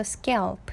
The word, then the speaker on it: scalp: 요거 A 발음이에요. 그래서 scalp 이렇게 발음하시면 되고요.